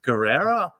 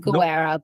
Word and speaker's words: Guerra: So, universities, neurody divergent, and the future of neuroincclusion with Guerrera. Is that did I pronounce your name all right? Yeah, it's um Gera, but it's good.